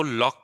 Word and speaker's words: Locke: लेकिन यहीं पर हम लोग देखते हैं कि लॉक जो है लॉक जो है वो ह्यूमन नेचर को अलग से डिफाइन करता है। ठीक है? अच्छा हम लोग लॉक को लॉक प्रोनाउंस करते हैं। ना कि लॉके।